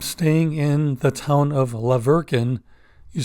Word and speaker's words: La Verkin: I ended up staying in the town of La Verkin. You spell that Laverkin, and it's about 30 minutes away.